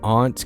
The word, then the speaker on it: aunt: Aunt can be pronounced as aunt, like antidote.